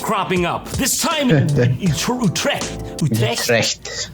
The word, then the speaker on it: Utrecht: Give me a Dutch guy saying Utrecht for God's sake. How do you say it? I know it's not that. Utrecht. That's it. That's the one.